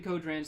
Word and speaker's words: Kodran: And to note the fact that the last time I introduced him at the beginning of the stream, said his name wrong. Captain Kodran's this guy's name.